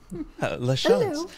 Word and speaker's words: LaChance: LaChance. Yes. Kind of like French. LaChance.